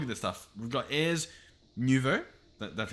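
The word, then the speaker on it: Ars Nouveau: um like look at this stuff we've got ayers nouveau that's how i've been told to pronounce it um britannia elemental craft and forbidden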